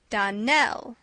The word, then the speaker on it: Darnell: Darnell, accent on the last syllable, and St.